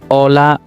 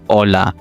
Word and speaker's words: hola: Use hola anytime. Okay. Ola. Ola. As I told you earlier the h is silent. So don't say it. Just say hola.